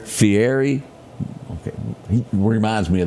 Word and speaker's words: Fieri: That guy, how do you pronounce his name? Fieri.